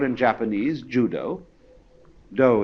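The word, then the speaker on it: dō: called in Japanese Judo do is the Japanese way of pronouncing da The Gentle Way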